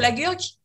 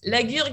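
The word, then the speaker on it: La Gurgue: Usually I like to say that Laguergue is a complicated name to pronounce because Laguergue, it's very guttural, but the wine is completely, is the opposite.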